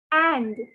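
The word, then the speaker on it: Inde: word for india is and okay the spelling is i n d e the pronunciation is and like um in english we have the word and like uh great and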